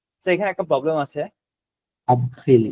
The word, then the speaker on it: avril: G, which means এপ্রিলের মধ্যে আরটা উচ্চারণ হবে। আব্রিল, আবহিল মানে আরটা ই উচ্চারণ হবে।